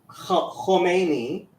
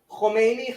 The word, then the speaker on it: Khomeini: yeah, Khomeini, Khamenei, like they're completely different names, but people confuse the two all the time. This is the difference between like having a short and long vowel stuff in it, right?